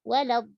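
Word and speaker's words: ولا الضالين: Lin dibaca dengan tipis. Jadi waktu masuk pindah dari mat ke lam, matnya 6 harokat itu tebal. Waladhdallin. Kenapa tebal? Karena dot sebelumnya. Jadi 6 harokatnya tebal. Pindah ke lam langsung tipis.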